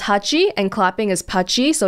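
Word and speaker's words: はち: internet slang that means clapping cuz 8 is pronounced Hachi and clapping is patchy so it's like punchy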